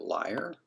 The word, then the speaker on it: lyre: It does look like an inverted leer. It's really nice. Isn't that liar? Liar, sure.